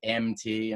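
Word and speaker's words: Emmetee: do with them so that name is mt and of course it's spelled e-m-m-e-t-e-e and i know that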